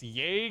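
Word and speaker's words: yae: his middle name is literally just Yay, Xenos Yay Galvus.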